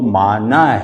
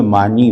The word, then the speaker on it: معنی: کے طور پہ معنی۔ اچھا یہ معنی کا صحیح تلفظ تو معنی ہے نا، لیکن اردو میں معنی بولتے ہیں یعنی میننگ۔ تو مثال طور پہ